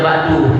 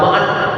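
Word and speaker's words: بعد: wasalami dibaca Amma ba'du Bacanya ba'du jangan ba'd ba'd aja ini kalau jadi MC baca yang lengkap ya jangan Amma ba'ad Amama ba'du baca k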